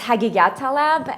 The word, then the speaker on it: Haghighattalab: about my family name it's very hard to pronounce and it's hagigah Talib and I was five